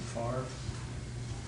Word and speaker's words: Favre: Well, the quarterback for the Packers is spelled Favre and they pronounce it Favre.